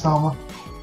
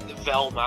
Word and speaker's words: Thelma: I think it's Thelma. I've always. I'll look it up real fast. It's super awkward if it. Yeah, Thelma and Louise. Okay, I've always pronounced it Velma.